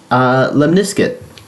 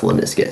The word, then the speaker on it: lemniscate: And yes, that is how it's pronounced. So I'm like 90% sure. There's a reason as to why I started a math channel and not an English one. But yes, I'm pretty sure it's called lemniscate.